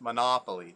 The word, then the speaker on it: Monopoly: No, it's Monopoly. Definitely, nah is the syllable you hit. You hit the second one.